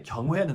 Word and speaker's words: 경: 경 rhymes with sung or hung or tongue 경 이렇게 얘기한 거예요.